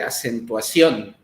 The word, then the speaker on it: acentuación: nuestra este la plataforma, la palabra acentuación en sí misma es una este palabra aguda. La última, la sílaba tónica es la on. Es la que pronunciamos más fuerte, acentuación decimos, ¿no? Acentuación. Y entonces como acaba en n, lleva acento. En la o lleva acento.